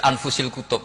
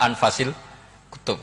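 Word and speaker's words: أنفس الكتب: Di sini ditulis anfusil kutub. Selalu saya baca anfasil kutub karena maknanya kitab terbaik. Kalau kitab terbaik bacanya bukan anfus tapi apa? Anfas.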